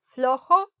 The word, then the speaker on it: flojo: Flojo, loose. Flojo. Escribe flojo, no flojo. Flojo. So, esta jo es como jo. Así, ¿no? H-O. Jo. ¿No? Jo. Flo. Y luego jo. Flojo.